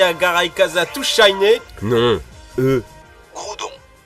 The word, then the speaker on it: Groudon: Non eux Groudon Kogre. OK plutôt logique mais dites-vous bien que la prononciation aux États-Unis est très différente. Et oui prononcer Growudon et Kyoger et c'est même pire dans l'animé.